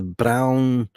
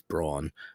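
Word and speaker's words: Braun: It's a brown. That's how you say it, right? It's brawn.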